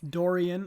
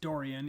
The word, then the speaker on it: durian: with elephants elephants yes durian apparently I've been saying it wrong it's durian even though I also learned